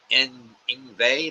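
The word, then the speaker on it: Yngwie: Ingve like V Ingve.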